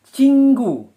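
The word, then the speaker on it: 친구: Jadi, tulisannya adalah cingu, penulisannya. Pelafalannya cinggu.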